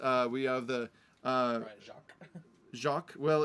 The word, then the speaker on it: Jacques: You've got other ones like Brian Jakes. We have the Brian Jacques. Well, he's from Liverpool, so he pronounces it Jakes.